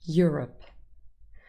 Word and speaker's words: Europe: the end manicure cure europe has two syllables the first syllable contains your rep europe and our last word